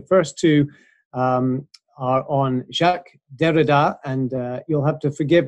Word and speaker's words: Derrida: on the fact that in English it's not decade' its Derrida and that each language has its own pronunciation so you're absolutely consistent